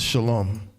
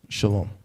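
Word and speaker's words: שלום: and fake there's no why the word is shalom it's just him saying it's a shah allah and a mob we just read it from a root in in this ancient right shalom straight like that all right so that that's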